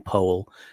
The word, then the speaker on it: Powell: Ali referring to um Charles Powell he actually pronounces his name Paul um was Thatcher's conil